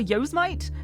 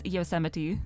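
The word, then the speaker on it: Yosemite: and I was like oh yoite yite and then I was informed that it's yiti and that's something I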